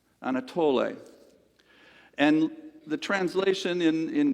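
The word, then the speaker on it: ἀνατολή: East is from a Greek word and it's pronounced Anatoly Anatoly and the translation in in Greek literally means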